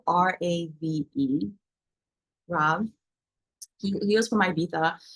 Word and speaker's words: RAV: Ro what ra calls the Rob the it's it's spelled r a v Rob he was from IA but he was